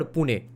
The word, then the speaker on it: Pune: look at Maharashtra right what is the actual marati pronunciation of Pune is it Puna or Pune Pune oh so so the British made it Puna yeah I see